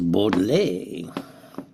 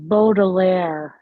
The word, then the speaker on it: Baudelaire: Here's one by Charles Bod, French 1821 to 1867. He didn't live too long, but he didn't in those days. It's pronounced Bodilair.